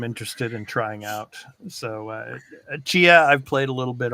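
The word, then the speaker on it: Tchia: pronunciation, Chia. Chia, yes.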